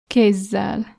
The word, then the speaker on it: kézzel: And the double version is kézzel.